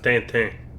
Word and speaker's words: Tintin: It's pronounced Tintin, but alright.